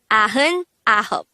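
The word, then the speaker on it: 아흔아홉: which is a hop so 99 is actually pronounced as ahun aho and that is how similarly you will count number 90 to 99.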